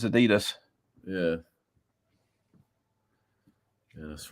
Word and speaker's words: Adidas: It's one of the few words the Americans actually pronounce correctly, and Adidas is Adidas. It's not Adidas. It's Adidas.